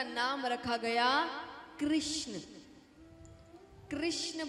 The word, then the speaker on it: कृष्ण: नाम रखा गया कृष्ण कृष्ण बोलते हैं तो जीव घूमती है बोलिए कृष्ण भूमि जी सही तरीके से आप यह नाम का उच्चारण करते हैं तो जीव घूमती है यानी टेढ़ी होती है तो इसीलिए भगवान का